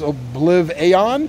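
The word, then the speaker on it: OblivAeon: It's like Oblivion, but it's spelled Aeon, A-E-O-N, so I guess Obliv-Aeon.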